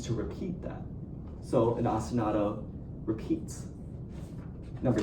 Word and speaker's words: ostinato: Do we all remember what I said an ostinato was?